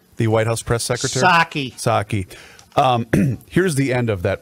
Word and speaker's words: Psaki: Is that how we pronounce her name? The White House press secretary? Psaki.